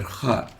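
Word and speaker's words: خاء: Kha looks like this, and it has no English equivalent, but it is similar to the German Bach, or the Russian Rachmaninoff, or the Scottish English Loch. It's pronounced as ugh, similar to the sound you make when preparing to spit.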